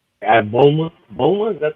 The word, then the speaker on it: Bulma: I said Blum. Bulma? Bulma?